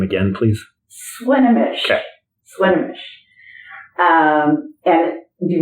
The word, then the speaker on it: Swinomish: Swinomish. Okay. Swinomish. And do you want to spell it?